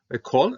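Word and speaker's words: כָּל: Kol and all, two, but these are both two. Kol and kol, closed on accent syllables are going to be an O rather than an A.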